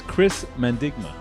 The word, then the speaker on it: Chris Mandigma: nation's capital and who we're talking about is chris mendigma now did i say that properly yeah yeah